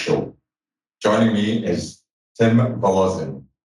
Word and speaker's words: Wolozyn: Joining me is Tim Wolozyn. Is that the correct pronunciation? That is close enough, brother. Wolozyn. Close enough.